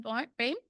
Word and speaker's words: Boehm: He'll be joined by Kevin Boehm, who that's the French pronunciation of his name.